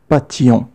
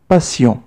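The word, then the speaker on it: patience: ننتبه جيدا لكلمة passion peu de passion فهي تكتب بحرف t ولكن ننطقه s لا نقول passion. القراءة الصحيحة هي passion.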